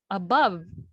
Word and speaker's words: above: pronounce it or above so it's above the stress is still on or the stress is on the second syllable rather so in the